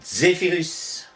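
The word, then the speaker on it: Zephyrus: Notons la prononciation Zéphirus. À l'instar des Romains, nos aïeux prononceront très longtemps ce Z, Zeta.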